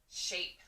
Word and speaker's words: shape: If there's an A, some letter, and then E, that means the E is silent, and the A will change from A to A. Sh, A. He says pa, sh, A, p, shape.